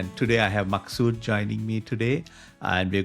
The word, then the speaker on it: Maqsood: My name is Maqsood.